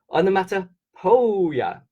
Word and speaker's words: onomatopoeia: So the reason why I'm saying it like this, it's a bit funny, is if you think of the boy's name Joe, J-O-E, it's spelled similar to this, P-O-E, P-O-E.